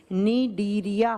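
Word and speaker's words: Cnidaria: phylum होता है निंदिया दूसरा होता है निदेरिया सी से लिखा जाएगा प्रोनाउंस किया जाता है एन से निडिया फाइलम अब क्या होता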